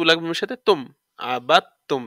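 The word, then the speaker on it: عَبَدْتُمْ: তু লাগবে সাথে তুম আবাত তুম এই দালটা বাদ দালটা উচ্চারণ হবে না এখানে এ ধরনের শব্দের মাঝে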